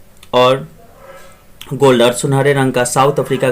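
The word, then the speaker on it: Nkosi: The vision of white singing, यहाँ पर थोड़ा सा देखते हैं, एन साइलेंट है, कोसी आप बोल सकते हैं, सिकेलल और आई Africa and black singing D stem.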